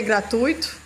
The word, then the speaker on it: gratuito: Com acento, que é para ser gratuito, né? Gratuito é uma palavra que tem ditongo, duas vogais ficam na mesma sílaba e não gratuito.